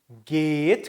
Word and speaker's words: geht: 자, wie, 이하고 에 길게 발음하면 wie geht, 그쵸? 에하고 하 있으니까 에 길게 되니까 get, s, E는 여기도 어떻게 해야 돼요? 이, 하 길게 들어가죠? 그러니까 E는, wie geht es Ihnen? 요걸 보통 줄여가지고 wie geht's Ihnen?